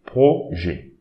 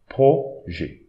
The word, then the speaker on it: projet: Don't prononce this T, important, important. This IT will prononce it E, projet, projet.